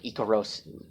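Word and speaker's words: イカロス: pun on Icarus Icarus Icarus in Japanese is pronounced as like eco rose okay so ego rose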